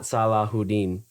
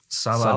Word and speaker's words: Saladin: It's Saladin. Saladin. I guess I don't know if that's how you pronounce it or not, but it's not Salahuddin. It's not.